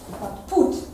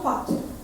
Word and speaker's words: put: How do we pronounce this word? Put. Put. Yes, not pot.